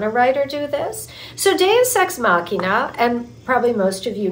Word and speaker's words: deus ex machina: correct me but one of them was um deus ex machina did I pronounce that right makina okay perfect um can you talk a little